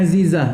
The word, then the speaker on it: Azizah: Za bukan za za tu Aziza. Siapa nama orang Azizah? Ya tu betul. Zai Azizah. Aziz.